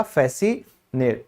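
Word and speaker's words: fascinate: फिर किसी को रिझाना, यहां भी क्या है, फैसिनेट, तो ये भी सी हमारा साइलेंट होगा, इसको कहा जाएगा फैसिनेट।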